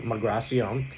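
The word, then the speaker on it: Migración: The immigration, Migracion is the pronunciation.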